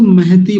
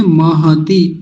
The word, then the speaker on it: महति: ह आधा होता तब इसको महती बोल देते महती लेकिन महती नहीं है महती महती ऐसा बोलेंगे ठीक है ये छोटी-छोटी